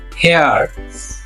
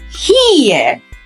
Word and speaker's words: here: হেয়ার। No, it's here. Ear. ই এ এখানে sound দিবে ear.